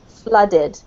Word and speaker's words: flooded: bit more okay so if you're saying flooded with the water make it more of an ah sound as if it was spelt with a you flooded it yeah that's better